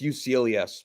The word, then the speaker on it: Uselyis: Yeah, it's Uselyis, but he's honestly useless.